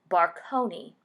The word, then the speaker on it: Baconnais: Their surname Baconnais evolved from the French pronunciation into a more Americanized Barconi.